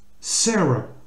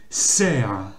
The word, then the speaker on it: Sarah: Ça se dit pas Sarah, hein, ou Sarah, enfin, même avec un accent plus ou moins britannique, ça ne fonctionne pas. En fait, ici, il faut prononcer Sarah. Ça se prononce. Là, c'est le son R et non pas le son A. C'est pas Sarah, c'est Sarah. Sarah.